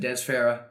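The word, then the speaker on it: Fafara: driver so that is so how do you say that de fafar Dez Farah but it says ffar I know but I've always just said Dez Farah and that's how I've heard itar I think the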